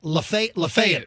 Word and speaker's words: Lafayette: to how do you say it it's uh Lafayette Lafayette Lafayette County out of 4 456 customers